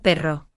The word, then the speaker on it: perro: La R suave y la R fuerte. Por ejemplo, pero y perro. Di conmigo despacio, perro, perro.